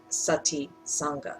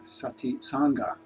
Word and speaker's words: Sati Sangha: I believe the name is Sati Sangha. Did I pronounce that correctly? Kind of. I'll tell you a little more. I have a nonprofit organization called Sati Sangha. Sati Sangha.